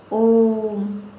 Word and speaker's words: ओम: जैसे आपने देखा होगा, लिखते हैं ओम, क्योंकि जब उच्चारण करते हैं ओम का तो इसमें ह्रस्व से ज़्यादा टाइम लगता है, ओम।